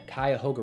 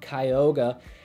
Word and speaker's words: Cuyahoga: actually divided by the cuyahoga river and for a lot of people i've noticed you having trouble pronouncing it it's not kyoga we have cuyahoga county and the cuyahoga